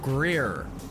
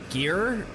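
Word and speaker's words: Gere: Richard Greer, but it's Ge R E. So, how do you pronounce that? Gear. Yeah, it is just gear.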